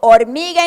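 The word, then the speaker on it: hormiga: calm down orig so origa in Spanish begins with the letter H it's a letter of the Spanish alphabet that is a silent letter that's why we had some kids saying O but some of you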